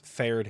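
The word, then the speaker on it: Faerdhinen: Nobody knows how to say Fierdenhin. It's Fairdhin. Fairdhin.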